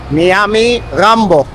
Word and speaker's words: Nyamirambo: I've been dropped off at Nyamirambo. That's how you pronounce it. Nyami plus Rambo. It also said it's the more vibrant area of Kigali. That I can see. Yes. The best, huh? Yeah. And Nyamirambo.